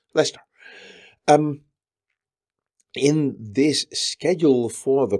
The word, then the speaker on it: Leicester: and on Wednesday in one of those typical British towns that has way more letters than you ever pronounce, Leicester.